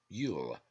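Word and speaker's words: Iúil: them cannot remove it it is Yul l-u-i-l pronounced Yul a Jew why does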